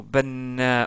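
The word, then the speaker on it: بنّاء: Si on voulait donner un autre exemple, banana, le mot banna qui veut dire un maçon. Un maçon, c'est équivalent en terme de prononciation à cette écriture là. Donc, il y a un doublement de noun.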